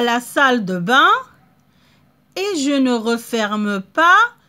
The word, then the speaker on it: bain: Regardez, il y a la lettre N, mais ça ne se prononce pas. On ne l'entend pas. Bain. Parce qu'il y a A-I-N. Quand il y a A-I-N, ça se prononce 1.